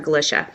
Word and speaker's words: Galichia: I represent Dr gisha and that they are pronounced Mr turnis and Dr gisha this case as most you most of the